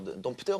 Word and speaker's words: dompteur: Je me rappelle, c'était un dompteur, dompteur ou dompteur, on dit. Les deux.